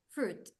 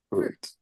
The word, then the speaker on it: fruit: fruit is this fruit the letter i is silent fruit fruit in of fruit we